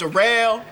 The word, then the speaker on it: Daryl: It's spelled like Daryl, but it's pronounced Darrell.